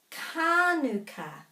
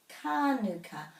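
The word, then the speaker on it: kānuka: the manuka tree and exactly the same with kanuka kanuka manuka that's why it's really important to find out which words have macrons within them because our sign posts and perhaps our manuka honey pots don't have the macrons necessarily i find out by looking online and and i have other dictionaries that tell me where the macros are both of these a's have macrons so they're both long i know some people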